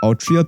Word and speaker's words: Altria: really king arthur but it is it's actually pronounced altria because in that universe she's gender bent but